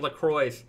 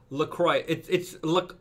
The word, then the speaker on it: LaCroix: This is a weird, it's somebody mentioned LaCroix.